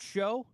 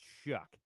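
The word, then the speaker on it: Shough: Is it show? I've heard it pron I've heard it pronounced Shaw and show.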